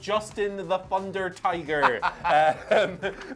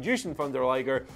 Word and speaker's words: Jushin Thunder Liger: legends let's talk about Justin the Thunder Tiger people can get really annoyed just by that mispronunciation Jushin Thunder liger seemingly his Hall of